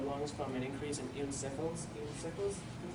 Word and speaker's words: eosinophils: It's basically just a swelling or inflammation of the lungs from an increase in eosinophils, is how you say it, and it's a type of white blood cell.